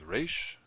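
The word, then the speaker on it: ריש: After kof is resh, and resh is shaped like this. Remember to round this corner. That'll distinguish it from the dalet. Resh is the R sound, as in rope. Resh. Now after resh we have sin, which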